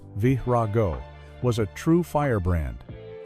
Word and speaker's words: Verago: In the early 1,992nd, an artist named Verago, pronounced Vraago, was a true fire brand.